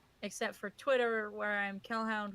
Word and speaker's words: Kelhound: I am on all the social medias as Kel, except for Twitter, where I'm Kelhound, which is spelled like Hellhound but with a K, and on Instagram, where I'm Kel Draws Comics on Insta.